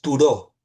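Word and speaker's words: Thoreau: Si quieren leer sobre desobediencia civil, el teórico más conocido que lo ha desarrollado más ampliamente es Turó, que se escribe th Toreau. Toreau.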